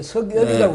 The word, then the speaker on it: 윤석열: 크게 틀린 건 아닙니다만은 지금 윤석열인지 윤석열인지 예, 석열이라고 해야 되겠대. 예, 석열인지. 아니야. 근데 한자로 쓰면 또 윤석열이가 돼. 예. 한글로 그렇게 쓰면 석열이라고 읽지만. 어쨌든 윤석열. 석열이가 맞는 것 같아.